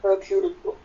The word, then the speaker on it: Hercule: 5 killings later, and the inimitable how do you pronounce Hercule in French? Hercule.